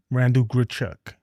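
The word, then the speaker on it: Randal Grichuk: Uh, we just got Randall Grchuk."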